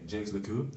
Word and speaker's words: Jacques Lecoq: Jacques Lecoq, es importante la pronunciación.